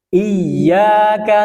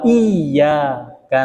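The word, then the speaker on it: إياك: na'budu Wa iyyaka nasta ada dua tasdid di dalam ayat itu di atas huruf ya iya ya na'budu Wa iyaka nastain harus ditahan gak boleh bacanya iyaka na'budu wa iaka Nain maka tidak sempurna bacnya itu karena dia meniadakan tasdid Tetapi dia harus ditekan iyyaka na'budu wa iyyaka nasta'in selanjutnya ihdinasiratal mustaqim di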